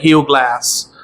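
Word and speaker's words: Hugh Glass: কারণ এই সিনেমাটা হিউ গ্লাস বা হিউজ গ্লাস যাই উচ্চারণ করেন আমেরিকানরা। হিউ গ্লাস উচ্চারণ করে হিউ গ্লাস। আমেরিকান একসেন্টে। তো তার গল্প এবার প্রথমেই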